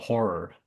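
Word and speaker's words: HO99O9: And the uh artist is called Horror. H O R O R, but it's spelled H O9909.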